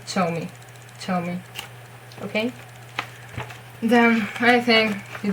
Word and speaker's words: Zhou Mi: It's between Ch and J, I think, Zhou Mi. I prefer it with Che, and I watched a lot of Super Junior and variety shows, so I, especially for that, to learn his name. And it wasn't Zhou Mi. It's definitely with Ch, okay, Zhou Mi, okay?